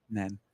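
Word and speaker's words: Nene: We could do the Costa del Nin or Nen Nen. Nen.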